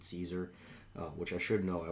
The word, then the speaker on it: Cesar: So as we add the background harmonies from Cesar, and I say Cesar because that's how I think his name would be pronounced. Apparently they pronounce it Caesar, which I should know.